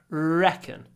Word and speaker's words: reckon: what do you reckon do a nice long R reckon what do you reckon